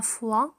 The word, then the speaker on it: foi: لدينا 3 كلمات تتشابه في النطق، لكن كل واحدة لها معنى. كي لا تخلطوا بينها، لدينا la foi هو الإيمان، و le foie avec E le foie هو الكبد، ولدينا une fois بمعنى مرة، fois بمعنى مرة avec S à la fin. Le foie, la foi et une fois.